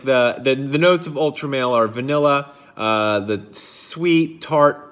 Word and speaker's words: Ultra Male: Today we're going to be going over Jean-Paul Gaultier Ultramale, or as some of you like to say, Ultramall, but there's an E in there, so I'm going to call it Ultramale.